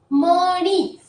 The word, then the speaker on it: मणि: जब हम इसका उच्चारण करते हैं, तो मणि कहने की कोशिश करें , ऐसा लगता है जैसे ध्वनि नाक से आ रही हो, मणि।